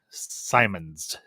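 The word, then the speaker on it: Simmonds: deaf uh played by milson simmons simons i think is how you pronounce her last name you got noah jup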